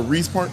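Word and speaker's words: Riis Park: this was really cool Reese Park am I saying it right rice or Reese Park Reese Reese I was I'm glad Reese Park okay let's talk about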